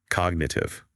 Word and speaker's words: cognitive: Cognitive. Cognitive. See how the first syllable is stronger?